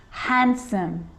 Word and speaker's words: handsome: d it can be silent too wednesday wednesday handsome handsome sandwich sandwich so i'm not pronouncing the d in san diwich i'm just